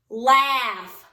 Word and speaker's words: laugh: Lastly is the word laugh.